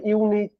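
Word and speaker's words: unique: University দেখো উচ্চারণটা কি, দেখো ইউ পাচ্ছি তো, ইউনিভার্সিটি ইউ পাচ্ছি, দেখো ইউনিক ইউ পাচ্ছি। তাহলে যে সকল ভাওয়েল সাউন্ডের উচ্চারণ ইউ বা ওয়ার মতো, তাহলে এখানে দেখো এটা ভাওয়েল।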